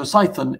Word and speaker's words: Cython: be thinking it's uh did I mispronounce python or something no so psython is a programming language